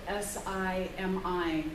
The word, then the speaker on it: Simi: It's spelled S-I-M-I.